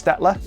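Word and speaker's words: Staedtler: I was finally able to learn how to pronounce their brand name so it's stetler orler in German so you know even if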